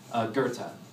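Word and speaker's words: Goethe: Gang whatever that is Gerta Gerta it's spelled like goth so every time I like if you're going to Google this it's like go e t go Gerta and Gerta was a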